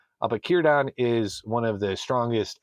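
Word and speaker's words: Círdan: If you're not used to it with Tolken pronunciations, starting a word with C is usually the hard C. But Kyodon is one of the strongest elves in Middle Earth at the time of Lord of the Rings.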